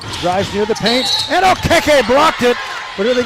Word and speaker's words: Okeke: first half points, and I've been taught by her how to say her name right. It's Okeke, not OKK, Okeke.